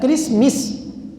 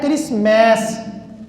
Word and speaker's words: کرسمس: اعتبار سے لفظ مس جو ہے کرسمس یہ درست نہیں ہے، اصل بنتا ہے کرسمیس، کرسمیس۔ کیوں کہ عربی میں جب انگلش میں جب اے آئے تو وہ پھر آئی کا تلفظ نہیں دیتا، کرسمس نہیں ہوتا، کیا ہوتا ہے کرسمیس ہوگا، کیونکہ یہاں جب ہم میس